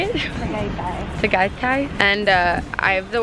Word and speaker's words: Tagaytay: Tagaytay.